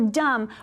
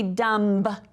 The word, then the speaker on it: dumb: Okay, so dumb, we don't say dumb. It's just dumb. So our B is our little ghost letter.